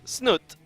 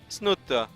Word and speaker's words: Snute: as the blue Zerg it is snot or as the one guy on Twitter really wants me to pronounce it snut snut but don't do that he gets very mad at me he's like man that's not how you say it I'm Norwegian I